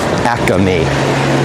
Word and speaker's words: Acme: Acme, like 3 syllables.